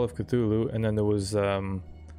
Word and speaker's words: Cthulhu: the call of cthulhu now the pronunciation there i'm gonna say cthulhu the whole time uh i've heard a lot of people call it ctulu as well but i'm gonna go with my first pronunciation the call of cthulhu